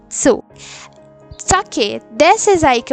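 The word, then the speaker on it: つ: O tu não é tu, é tsu.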